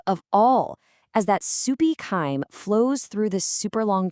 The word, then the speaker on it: chyme: And that soupy mix is called chyme. Can you try saying that with me? Ready? Chyme. That's it. It rhymes with lime.